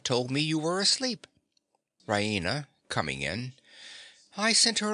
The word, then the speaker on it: Raina: full of good news ryina she pronounces it raina with the stress on the e raina she goes to the